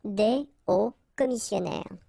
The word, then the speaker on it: hauts commissionnaires: Okay, des hauts commissionnaires. And if you're a bit careful, you can hear that un haut commissionnaire and des hauts commissionnaires, well, clearly it is pronounced the same way.